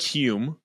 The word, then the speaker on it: Hulme: I don't like Hume. I think I want to be Charlie Holm from now on.